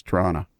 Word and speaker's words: Toronto: say toronto yeah and the second t is silent so it's toronto or or uh portsmouth